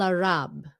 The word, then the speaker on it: Arab: Nhưng mà it's a B sound at the end. Nhưng người Việt mình hay nói là người Ả Rập. Ả Rập. Tại sao khi đó thì quý vị nói cái P được? Sao? Drive me crazy. Okay? So Arab. Arab. That's the American pronunciation.